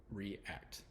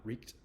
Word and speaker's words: react: together, re and act, you have to pronounce the E and the A at the same time. So react. It's not reeked.